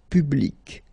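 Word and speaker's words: publique: And well, phonetically it is exactly the same thing. So, public at the masculine form feminine form public the same.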